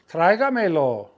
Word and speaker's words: Tráigamelo: Tráigamelo. Okay? Tráigamelo. And the accent mark is on that diphthong, and it's going to go on the A. It's going to go on the strong vowel.